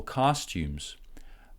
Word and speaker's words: costumes: Costumes, stress in the first syllable. Tumes. This U is the same as in blue. And at the end, we don't have S, it's actually Z. Why? Because M is a vibrated sound. So costumes.